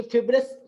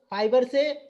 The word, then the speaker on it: fibrous: Okay बेटा, ये फिब्रस, कई बार मैंने बोला मेरी गलती है, ये फिब्रस नहीं, ये फाइबर से ये आपका ये जो रूट, इसको इसका जो करेक्ट प्रोनाउंसिएशन है दैट इज ए फाइब्रस, इसीलिए इसको कहा जाता है रेशेदार जड़ें, जो कि तो ये फाइब्रस है, इट्स नॉट ए फिब्रस।